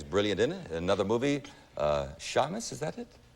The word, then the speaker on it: Shamus: Another movie, Shamus, is that it? Shamus, if you're Jewish. Seamus is the correct pronunciation.